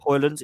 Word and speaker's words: Højlund: Højlund.